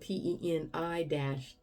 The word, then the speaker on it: Peniel: And it's spelled P-E-N-I-E-L, Peniel.